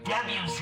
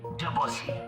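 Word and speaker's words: Debussy: Yes, it's pronounced Debuse, NOT DUSSY.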